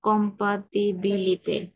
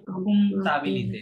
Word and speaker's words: comptabilité: J'ai d'autres bonnes connaissances connaissance, en connaissance en compatibilité. comptabilité, Ok. পিটা silent, হ্যাঁ, হ্যাঁ, comptabilité, পি compatibility.